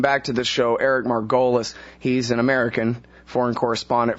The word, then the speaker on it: Margolis: It's Margolis, but, you know, everybody has a problem with it, including myself, so don't feel badly. But I prefer Margolis. That's Margolis. what my father used to use.